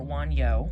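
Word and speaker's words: Wunjo: so this is um wanu or wano as some people like to pronounce her because the J technically is a y pronunciation in Norse um but wo this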